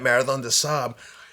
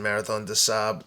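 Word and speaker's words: Marathon des Sables: the sand and at Marathon theab it's it's spelled d s s a b l s for people listen Marathon theab the French pronunciation but in that race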